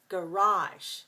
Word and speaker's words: garage: But in English pronunciation in America, we say garage. So 2-2, two syllables stress the second, garage.